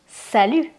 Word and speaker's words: salut: You can say sal. This means hi. You you can use it with friends, people you know or people your age, especially if you're young. Be careful because you can see a T at the end, but please don't pronounce it.